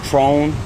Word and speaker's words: Tron: I'm sure what's your name my name is trone my name is Tron spelled t-r-o-n last name m as in